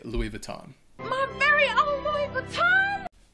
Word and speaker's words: Louis Vuitton: number 10 Louis Vuitton and in French it's Louie vuon I don't said it wrong how how does that go again I don't know say it again vuon okay Lou vuon but I would say Louis Vuitton because but I I don't know the French I'm not French either so I'm Louis vuon anyway it's Louis Vuitton yeah many Native English